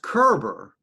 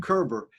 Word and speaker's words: Koerber: last name is pronounced kerber and this is okay herbert like yeah like gerber baby food kerber and the reason i